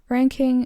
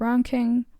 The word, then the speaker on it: Ranking: Platz 1 im ranking in German, you would say ranking instead of ranking, which is kind of the British English pronunciation, but yeah.